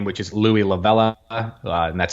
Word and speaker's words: Louie La Vella: And they're all my first and last name, which is Louie Lavella, and that's spelled Louiellavella.